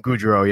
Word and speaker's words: Gaudreau: You gotta say it like the Johnny Gaudreau. Gaudreau, yeah.